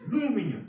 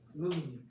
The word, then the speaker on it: aluminum: This is aluminum 이러더래. 루미늄이? 얘가 묵음화 됐더래. 묵음. 루미늄. 루미늄. 루미늄. 아마 액센트가 여기 들어가 있나 봐. 그러니까 해도 발음이 되게 약해갖고 루미늄으로 들리더래.